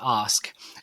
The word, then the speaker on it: Ask: It's actually pronounced ask.